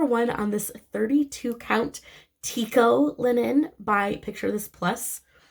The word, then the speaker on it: Tycho: i think most people would call this fabric taiko um just from the phonetic spelling but it's actually pronounced tico just so you know i'm just a nerd